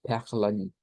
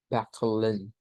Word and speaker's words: Perlen: Este lleva una E abierta bueno, perla, perla es la perla. Pero si le agregamos la N, entonces es perlen, perlen. De hecho, aquí se podría quitar la schwa y sonar solo la LN, por lo que hemos visto en otras pronunciaciones con anterioridad, de que esos sonidos pueden omitirse.